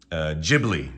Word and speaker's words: Ghibli: And I think they pronounce it as Ghibli, not Ghibli.